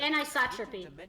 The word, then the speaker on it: anisotropy: The lore In books refer turn- to that as anisotropy. Anisotropy? How do you pronounce that? Anisotropy.